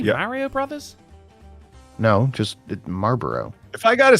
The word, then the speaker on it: Marlboro: with that we seen Marlboro yeah you don't pronounce the L what what did you say marble Marlboro ma bro are you trying to say Mario Brothers no just Marlboro if I gotta say